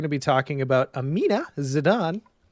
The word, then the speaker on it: Zidane: be talking about Amina Zidane right is it on is it the same as the same pronunciation as the soccer player that's what I've been